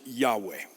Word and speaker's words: Yahweh: We think you pronounce it Yahweh. We don't know because it's so sacred it was never written down fully, just abbreviated.